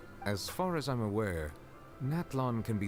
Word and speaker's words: Natlan: Natlan. Okay, good to know that's how I pronounce it.